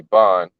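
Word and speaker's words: בן: to show that word, that Hebrew word for children, is actually most likely ban, which is B-A-N, not B-E-N as they spell it here.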